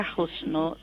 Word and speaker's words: Husnul: bisa Husnul Khatimah ya tulisan untuk tulisan bahasa Indonesia itu pakai ha itu jadi ha Husnul ya tadi bacanya khusnu khatimahnya pakai KH Pak Rofi maka Seperti yang